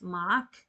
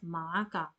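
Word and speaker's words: معك: So when you are pronouncing and reading, you will stop as ma'ak. You will not say as ma'aka.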